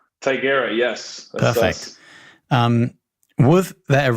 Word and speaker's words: Tigera: So, am I getting the pronunciation of Tigera right? Tigera, yes.